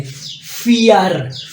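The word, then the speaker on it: vier: पास होर है या वी को आप एफ की आवाज में प्रोस करेंगे फियर फियर जैसे आप फियर लिखते है ना एफ ई ए आर फियर खौफ तो इसको इसी तर पढ़ते है फियर फियर नेक्स्ट आपके पास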